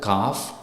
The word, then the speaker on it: calf: The letter L is usually not pronounced after the vowels. For example, A, O and U. Example, calf, half and palm.